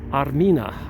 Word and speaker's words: Armenia: Armenia used to be pronounced or said Armina. Armina is the ancient name for Armenia, and that's why many Armenian women are named at birth Armenia.